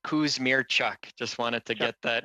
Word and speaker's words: Kusmierczyk: Kuzmirsik? Thank you very much, Chair. Really do appreciate it. And it's pronounced Kuzmirchuk.